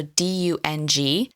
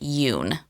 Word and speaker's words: Dung: So, D U N G. So you'll hear some people pronounce it as dung. However, he's Vietnamese, so you actually pronounce it Yun.